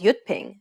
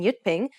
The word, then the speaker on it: Jyutping: Although it's represented as a J, it actually sounds like an English Y sound. So whenever you see the letter J in yutping, remember that it's pronounced as a Y sound.